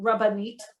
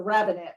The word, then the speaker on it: rabbinate: by my my questioning um that you're a rabbinate could you describe what that means and why you're that as opposed to a rabbi yeah so um so rabbanite is the correct uh rabbinid is the rabbinate right where the rabbis are oh sorry yeah